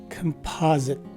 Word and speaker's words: composite: on top of the letter a the first of the two letter o's is a swah sounding o the letter s takes a z sound as in zebra and finally the letter i is a short i or is a swa sounding i so this word is pronounced as composite again composite our second